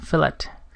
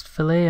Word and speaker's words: fillet: Fillet. I've heard it actually pronounced both ways, fillet and fillet.